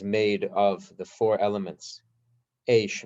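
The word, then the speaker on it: אש: And they're called Eish, Mayim, Ruach, Ofar. Eish is spelled Aleph Shin, Eish.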